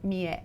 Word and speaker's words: Mia: when I say ya pronounce it for them Mia Mia yeah a lot of people see her name and they some people try to pronounce my name like me yeah like I've heard